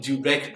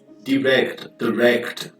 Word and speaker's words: direct: In syntactic terms, which combination of transitive verb and direct object... Atenção, mestre. American pronunciation, direct, British pronunciation, direct.